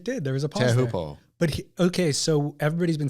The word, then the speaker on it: Teahupo'o: Teahupo'o. Do you feel that scratched the record? Yeah, it did. There was a pause Teahupo'o.